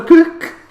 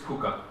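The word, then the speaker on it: Kukk: Sander Cook. Maybe it's pronounced Cook. I don't know. What do you think, Gunnar? I think it's Kuka. No, it's K-U-K-K.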